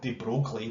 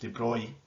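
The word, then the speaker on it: de Broglie: energy it has the more it vibrates so louis spelled the broccoli but it's actually pronounced de bruy proposed that since particles behave like waves then all particles must have a wavelength this wavelength known as the debris wavelength is extremely small within the bohr model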